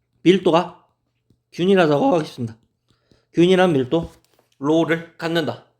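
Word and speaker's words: ρ: 균일한 밀도 로를 갖는다. 로라고 읽겠습니다. 로.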